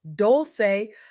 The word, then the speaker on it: Dolce: I'm Dolce, pronounced Dolce like sweet softness whispered in French, and I'm your guide